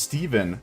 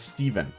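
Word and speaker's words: Stephen: It's pronounced Steven but with a ph. It's Irish. Okay. So, it's not Stefan, it's Steven.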